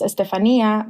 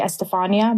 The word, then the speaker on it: Estefanía: My name is pronounced Estefanía, but in America, people usually say Estefania because it's spelled with an F.